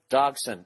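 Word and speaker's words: Dagsson: It's just search I Hate Dolphins, and the comedian's name, it's Hugleker, I don't know, Hugleker Dogson, and it's spelled Hugleikur, and his last name is Dagson.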